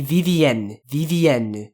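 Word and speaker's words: Vivienne: French name in French This Woman's name would be vvn vvn so that would be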